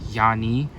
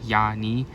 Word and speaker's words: Iani: And apparently it's pronounced Yani with like a Y. Yani.